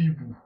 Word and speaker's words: hiboux: Des amis, des loups, des hiboux. Notez que hibou a deux lettres muettes, le H et le X.